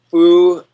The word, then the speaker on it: Phuc: Everybody is talking about foo. I can say the last 2 words, right? Yeah. Food that bitch. But it's spelled PHUC.